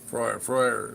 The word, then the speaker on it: Freyr: Freuer is the proper way to say his name, apparently. Freuer. Like in Freud, yeah, peace.